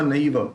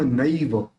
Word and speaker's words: नैव: मात्म एक दूसरा स्वात्मा नैव देखिए यहां पे जो ये है उसके न के ऊपर दो मात्रा है तो ने नहीं करेंगे नई करेंगे स्वात्मा नैव तद भूत तथो भूत